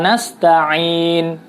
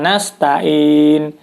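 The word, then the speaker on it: نستعين: kelima surat al-fatihah adalah salah menyebut bunyi huruf Ain pada lafal nasta'in ya jadi kadang-kadang membacanya udah gampang aja iyyaka na'budu Wa iyyaka nasta'in dan tentu saja itu tidak tepat jadi harus ditekan iya karena budu wa iyyaka nasta'in Taemin karena menggunakan huruf Ain Hai berikutnya Hai pada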